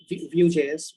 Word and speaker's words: Vue.js: go ahead yeah that was my answer uh vue.js which is how it's pronounced yeah vgs definitely use the word although